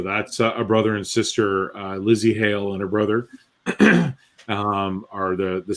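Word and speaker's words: Lzzy Hale: Yeah, so it's Hale, Hale, and then Storm. So it's Lizzie Hale, and her name is spelt really cool. It's Lzzy, Lizzie.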